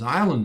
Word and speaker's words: island: Land means island in English with the S not pronounced and the land added.